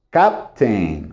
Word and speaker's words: captain: Sí hay tres sílabas capitán en inglés solo son dos cap Captain Okay Captain of my